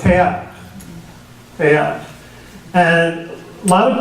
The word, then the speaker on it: Teilhard: If it were a German name, it looks like one, it would be Teilhard. But it's French, and so it's Teilhard.